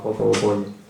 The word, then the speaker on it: Popovo Polje: traduce, o así se dice en su idioma, Popovo Polje, y se escribe Popovo Polje.